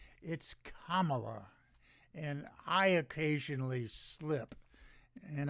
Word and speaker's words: Kamala: you know the Republicans the stupid Republicans intentionally mispronounce her name is Cala it's not it's Kamala and I occasionally slip and I assure you